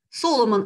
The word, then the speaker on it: Соломон: хочу обратить ваше внимание это фамилию соломон это фамилия и ударение на ней ставится несмотря на явное сходство с библейскими вильямсон перед данном случае ударение на первый слог это не случается и